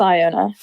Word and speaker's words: Iona: which is actually okay we're gonna settle this debate Iona or Iona it's Iona it's Iona okay well I